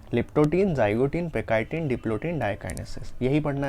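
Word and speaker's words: pachytene: तो leptotene, zygotene, पेकाइटिन, या कई बुक्स में इसको या कई प्रोनाउंसिएशन में इसको पैकेटीन भी बोलते हैं, डिप्लोटीन, डाइकाइनेसिस।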